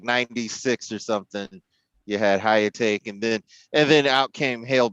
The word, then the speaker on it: Hyakutake: Comet Hyakutake, I think, came in, or Hyakutake, if that's how it's pronounced. Hyakutake.